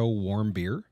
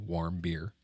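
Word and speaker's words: Warmbier: stomach because no and it's it's w r m b i e r so I think warm beer but just I don't like warm beer nobody does right um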